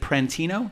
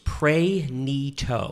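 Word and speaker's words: Prainito: how do you say is it printino no it's pre Nito prenito yeah so the the p-r-a-i-n-i-t-o awesome the people because because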